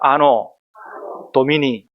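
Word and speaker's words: Anno Domini: 뭐라고 읽은다고요? 야, 신남계 수준이 있어요. 라틴어도 읽을 줄 알아요. 한번 따라합니다. 아노 도미니.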